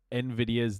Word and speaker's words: Nvidia: Um, people love to mispronounce uh Nvidia's name. A lot of people insert an A after the N for some reason.